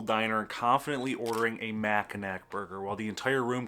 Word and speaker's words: Mackinac: It's Mackinac, not Mackinac. It's Ypsilanti, not Ypsilanti.